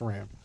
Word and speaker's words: SRAM: lot of bicycles and they're all SRAM SRAM but that's how you say it's Ram and I don't have